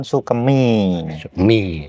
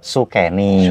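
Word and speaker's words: Soekeni: sukemiah umum ngih umum umum yang benar sukeni sukeni sukeni catat sejarah Lur penting ini kayahanda beliau pak Karno itu Namanya Raden sukeni sukeni jangan salah l kalau ejaan l ya ne bahasa Jawa kalau E itu kan pakai capil kalau tanpa capil berarti e sukeni sukeni soalnya nama itu Iya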